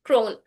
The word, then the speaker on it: CRWN: She is the founder and chief learning officer of CRWN Institute, pronounced Crone, and creator of the Crone frameworks.